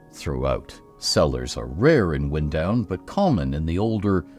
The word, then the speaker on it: Windown: locally as wind down wind down with wind pronounced like the moving air and not like the action of winding string or thread around something is primarily brick ground